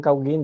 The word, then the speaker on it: Gauguin: Bien, vamos entonces, Paul Gauguin, se escribe Gauguin, no digan Gauguin, digan Gauguin.